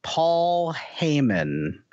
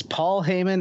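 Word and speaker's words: Paul Heyman: this is Paul hayon my name is Paul Haymon yes Paul Haymon is correct he is not afraid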